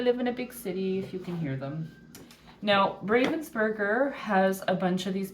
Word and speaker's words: Ravensburger: okay I know that I think the correct pronunciation is ravensberger um but it is forever etched in my brain Ravensburger and I I don't